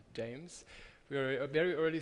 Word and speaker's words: JMES: with um James investment jmes so we pronounce it James we are a very